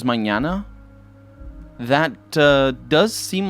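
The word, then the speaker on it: mañana: a good way to pronounce that nh for portuguese or n with a tilde for spanish knee it's basically knee like manana it sounds exactly like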